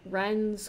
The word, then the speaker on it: Rhen's: you so Avion one Ren's Quest I believe the H is silent so let's just run